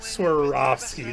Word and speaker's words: Swarovski: Of course they're Swarovski or Swarovski. There we go. That's how you say it.